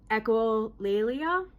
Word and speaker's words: echolalia: So I have echolalia.